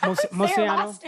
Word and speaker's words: Moceanu: Cuz I did get a see I got to meet Dominique Moceanu. Is that their last name, right? Yep. Moceanu. Yep, you said it right.